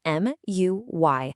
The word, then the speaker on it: muy: That's spelled M-U-Y, and you say it like muy.